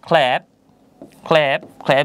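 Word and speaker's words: clap: ঠিক একই রকমভাবে আমরা যদি পরবর্তী এক্সাম্পলটা দেখি, এখানে বলা হয়েছে ক্ল্যাপ, ক্ল্যাপ, ক্ল্যাপ যার অর্থ হচ্ছে হাততালি দেওয়া।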